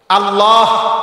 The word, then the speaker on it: আল্লাহ: আল্লাহ শব্দের শেষে যে একটা গোল হা আছে ছোট, এটা কো। সুবহানাল্লাহ সুবহানাল্লাহ করলে তো শুধু লামের মধ্যেই শেষ হয়ে যায়, তো আল্লাহ শেষে আর একটা হা আছে না, এটা কই।